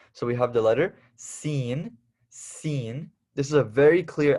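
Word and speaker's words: سين: a very clear s a very clear s seen seen so hey have you seen that show or have you seen that dude seen that's what we're talking about seen okay and this is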